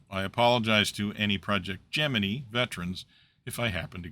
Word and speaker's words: Gemini: Now, a note on pronunciation. If you're like me, you desperately want to pronounce the name of this program as Gemini, but the NASA history is quite explicit that the project itself used the pronunciation Gemini. And so that is what I am going to attempt to do, although I cannot guarantee that the odd Gemini might slip out.